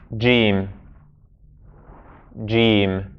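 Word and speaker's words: جيم: Its name is Jiim. Jiim. And the sound it makes, we can write it in English as J. Everyone say for me, Jiim. Jiim. So the sound is J.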